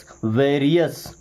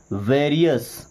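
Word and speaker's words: various: Advanced वैस वेरियस क्या बनेगा? वैरियस वैरियस नहीं वेरियस।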